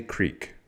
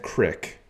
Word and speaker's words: creek: what I mean but I don't say cck I say Creek so I mean I'm not I'm not like a 100% hick if I said Crick instead of Creek well then pray for